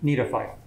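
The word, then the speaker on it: Gnetophyta: you pronounce that yeah you wouldn't pronounce the g need a fight so the genus is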